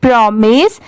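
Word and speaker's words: promise: बहुत सारे जगह पर इसे माइस भी प्रोनाउंस किया जाता है। बट यहां पर इसकी साउंड क्या है? मिस की है।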